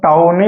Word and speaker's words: tawny: टॉनी ऐसा नहीं लिखाएगा, ये ए है, इसको टॉनी ही पढ़ते हैं, TAWNY। ठीक है, अगर आपको दिक्कत होता है तो आप टाउनी पढ़ लो, है कि नहीं, लेकिन इसको करेक्ट प्रोनाउंसिएशन है टॉनी बीस्ट।